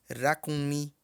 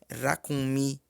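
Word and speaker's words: ràkúnmí: O R tem um som rasgado, tá? Um som de R. Rato. Rua. Então, se vocês não conseguirem pronunciar assim, vocês podem pronunciar racunmi mesmo. Mas é uma deficiência que vai acabar confundindo com a letra H, que tem o som de 2 R's. Então, o correto é racunmi.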